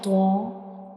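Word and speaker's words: طاء: To pronounce tho, the tip of the tongue will touch the gums behind up front teeth.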